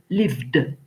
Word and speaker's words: lived: Et quand le son de la finale de la base verbale est V, alors le ED se prononce D, et ça nous fait lived.